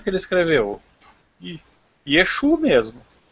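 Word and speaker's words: ישו: Até porque, desde sempre, os judeus chamaram Cristo de Yeshu. E não é Yeshua. Escreve Yeshua. Mas não sei porque lá no alfabeto deles eles pronunciam Yeshu. Pronto. Yeshu e pronto.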